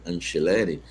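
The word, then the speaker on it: Angileri: Que essa é a pronúncia certa, né? Anceleri.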